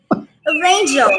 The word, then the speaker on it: Rangel: Rangel. Oh, that's pretty good. Oh, yeah. You know, I made it sound a little mispronounced, but you pronounced Burgin perfectly.